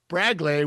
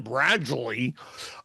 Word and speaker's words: Bradgley: Bradley Rodriguez, pronounced Braglay. We've been saying Bradley.